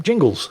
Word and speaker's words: Jingles: Dear Overlord Jingus, great Jingus. That's not my name. Jingles.